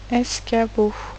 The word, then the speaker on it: escabeau: Je fais une petite parenthèse, une petite remarque sur le C qui fait le son que ici et non pas le son S.